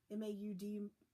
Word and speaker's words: Maud: And it is pronounced like the Dune style. He said it's M-A-U-D. So he said it was like Maud and Deeb.